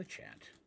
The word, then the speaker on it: Lich: where is where's the lichat and I'm not seeing them and I don't want to be here all day there's a witch rhymes with Lich oh oh I just